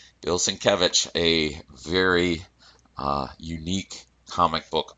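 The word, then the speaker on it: Sienkiewicz: know it doesn't look like that's how you pronounce it but apparently that's right bill syncovich a very unique comic book artist well that's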